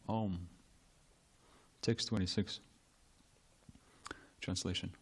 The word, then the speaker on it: Om: You are the shelter of the syllable Om, which consists of the 3 letters A-U-M, Om.